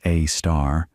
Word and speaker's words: Sagittarius A*: our galaxy, called Sagittarius A* or Sgr A* for short, that little star is pronounced A*, might be large enough